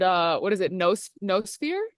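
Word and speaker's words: noosphere: No sphere. Is that how it's pronounced? No sphere. Yeah.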